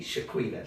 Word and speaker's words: Shi-Queeta: Shi-Queeta.